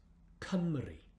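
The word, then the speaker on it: Cymru: for wales exactly the welsh for wales is pronounced kamri what about this one this is the highest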